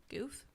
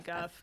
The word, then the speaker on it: Guff: Goof? It's I would say Guff. Goof it's not.